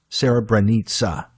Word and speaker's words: Srebrenica: If you go online and you look this up, Srebrenica, it's spelled like Srebrenica, Srebrenica. That's the spelling. The CA is supposed to be almost like a ZA, almost like bonanza. Srebrenica.